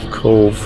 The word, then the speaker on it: Cobh: in the middle of Cove Ireland and it's spelled c o b so the BH is like a V like our c v e but it's c o BH yeah this is where